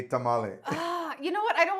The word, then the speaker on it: tamal: So after I heard Black Americans saying tamale and a lot of Chicanos, I said, okay, I don't care if people say tamale. I say tamal because I have more of my mind in Mexico when it comes to food.